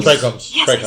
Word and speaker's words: trichomes: Oh no, trichomes. Would you like me to Trichomes. Trichomes.